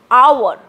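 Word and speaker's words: hour: There are differences in pronunciation for putting an, like our, H-O-U-R and honest, H-O-N-E-S-T. Again, our and honest sounds like our, O-U-R.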